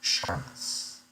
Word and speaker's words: Seamus: So Seamus is pronounced Sharmus and is slang for private eye. Seamus is the Irish pronounced Seamus.